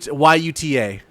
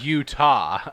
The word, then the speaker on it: Yuta: No, Yuta. Yuta. Not Utah. Okay. Yeah, Yuta. Yuta He man. wasn't named. He wasn't named after the state founded by Mormons. He's UTA. It all depends on pronunciation on that one. I mean, Yuta Wheeler, the Yeah. AEW wrestler, like that, not like Utah, the state Yeah.